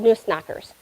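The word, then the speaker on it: Nussknacker: these guys were Nunes in German were called noose knockers um we in America we call them nutcrackers but it's the German pronunciation so the Noose knocker um and one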